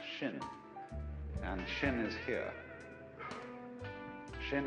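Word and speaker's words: 心: please pacify my mind in chinese mind is this word pronounced shin and shin is here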